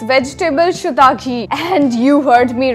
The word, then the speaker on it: Chutagi: Number 6, vegetable shiitake. And you heard me right. This is how it's pronounced, shiitake.